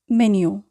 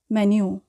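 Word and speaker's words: menu: এখানে আমরা যে জিনিসটি খেয়াল করব সেটা হচ্ছে মেনু বানানটি ইংলিশে এবং ইটালিয়ানে একই রকম, কিন্তু উচ্চারণ কিন্তু ভিন্ন। ইটালিয়ানে আমরা উচ্চারণ করছি মেনু, আর ইংলিশে উচ্চারণ করব আমরা মেনিউ।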